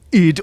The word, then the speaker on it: id Software: the devs over at id or ID Software, depending on how you want to pronounce it, are a nice bunch,